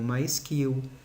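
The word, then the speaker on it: MySQL: oracle microsoft sql server sql que o mais correto é pronunciar como mais kill db2 paradox de base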